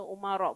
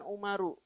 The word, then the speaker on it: Umar: Kenapa dibacanya Umar bukan Umaru?